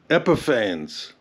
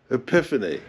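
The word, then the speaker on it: Epifanes: The first epiphany is that rapid coat varnish is pronounced epiphanes, not epiphany.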